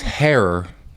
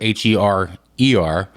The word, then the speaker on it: Herer: Jack Herer, by the way, it's Herer. It rhymes with terror, Herer.